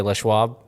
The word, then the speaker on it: Les Schwab: you gotta say no I think you say it I think if you're if you're firm around here you can say Les Schwab oh but just know